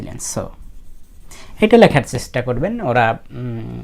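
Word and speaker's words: つ: টি এস ইউ বলে সু টি এস ইউ সু এখন কথা হলো টি এর পরে এস থাকলে কিন্তু এই টি এর উচ্চারণ হয় না যেমন সুনামি সুনামির ক্ষেত্রে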